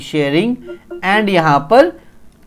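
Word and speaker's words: Tshering: थे जिनका नाम था टी शेयरिंग टी साइलेंट होता सॉरी शेयरिंग तोप ग इन्होंने स्ट्रांग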